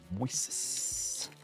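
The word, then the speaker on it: Moisés: So, and I've been pronouncing it. Okay. Moises.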